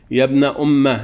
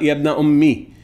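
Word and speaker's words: يَبْنَؤُمَّ: Yabna umma, especially with a fatha on the meme at the end from ayah 2094, pronounced yabna umma, not yabna ummi.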